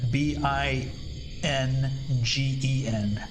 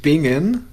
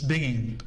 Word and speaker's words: Bingen: Well, there is the town of Bingan. It's Bingan. Bingan. Okay. But people also actually say bingen as to binge for shows and drink.